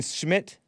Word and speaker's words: Schmidt: Jason Schmidt? Yes. Jason Schmidt. I may have the first name wrong, but his name is Smith.